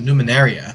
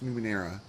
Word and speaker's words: Numenera: I love how you keep adding an extra syllable on there. It's Numenera. Numenera?